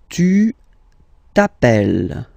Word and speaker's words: appelles: All right, second form, tu t'appelles. Okay, remember, final S not pronounced, tu t'appelle.